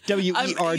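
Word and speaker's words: wergh: W-E-R-G-H. You know, listeners, you miss out by not seeing the expression that Mark just made trying to pronounce that word. it's an aspirated G, so werg.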